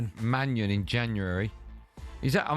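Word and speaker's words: Maignan: Just quickly, Chelsea could turn their attention back to AC Milan goalkeeper Mike, how do you pronounce Manion? Manion in January.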